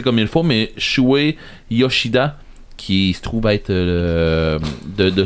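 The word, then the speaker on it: Shuhei Yoshida: Je pense pas de le prononcer comme il faut, mais Shuei Yoshida, qui se trouve être de Sony.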